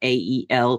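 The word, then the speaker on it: Arael: I felt Ariel And I got the name A R A E L pronounced Ael.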